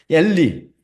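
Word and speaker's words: אלי: 엘리. 이 문장 마지막 엘리, 라마 아자부타니 제가 제일 밑에 그 시편을 올려놨잖아요. 이게 엘리로 발음되거든요. 엘리. 이건 히브리어입니다. 명확한 히브리어.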